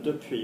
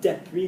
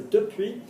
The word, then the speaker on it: depuis: Well done, depuis, not depuis. Ginny's pronouncing it properly. Okay, there's not an accent on the E, so depuis.